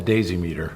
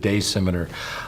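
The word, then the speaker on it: Daysimeter: Well, in Europe they call it the daisy meter, because if you look at it phonetically, you could go either way, but it's intended to be the Scimitar.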